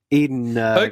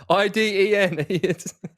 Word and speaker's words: Iden: half of the run eden hack i understand that's a hard name to pronounce four letters mate iden he came alongside